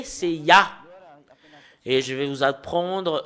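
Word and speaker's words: יה: l'écrit Yod he et le fait de de lire le Yod et le he c'est ya en langue hébreu voilà la raison pour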